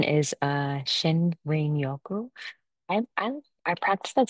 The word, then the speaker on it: shinrin-yoku: about like how I got into actually the pronunciation is uh Shen Yoku I I I practiced that so many times because I keep saying Shirin Yoku I and I'm sorry watch YouTube videos I